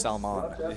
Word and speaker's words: salmon: Sal the salmon was very good salmon it's pronounced salmon okay my bad so uh Mike wins the